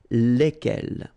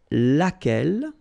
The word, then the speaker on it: lequel: remember lai lai okay so it goes like lequel all right and then the feminine form so singular we saw it lequel okay so basically same rule q is not